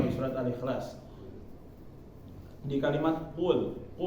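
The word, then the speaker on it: قُلْ: Nah, kalau orang nggak tahu bacanya biasa aja ya, kul sama aja ya, ku atau ko, nggak jelas, jadi nggak diperjelas. Jadi bacanya misalnya pakai kaf, kul. Ada hama sedikit, langsung ketahuan. Kalau ada angin sedikit ya, kul. Nah itu langsung ketahuan berarti huruf kaf yang dia pakai, bukan huruf qaf.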